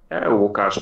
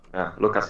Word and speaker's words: Łukasz: Łukasz, but it's Lucas is fine.